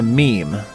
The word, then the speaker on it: meme: will forgive me if I abbreviate mimema to meme. If it is any consolation, it could alternatively be thought of as being related to memory, or to the French word meme. It should be pronounced to rhyme with cream.